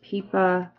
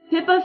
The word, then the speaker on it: Pippa: um I had no idea how to say the main character's name peepa pipa it's actually Pippa Fitz emobi yeah um